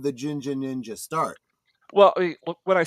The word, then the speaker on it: Jinja: And of course, they call this hair color ginger, but they pronounce it as Jinja.